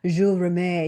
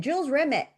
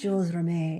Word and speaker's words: Jules Rimet: It's a French word. It's like Jules Rimet. You know, I was saying "Jules Remit." The Jules Remit trophy. And he's like "No, it's Jules Rimet."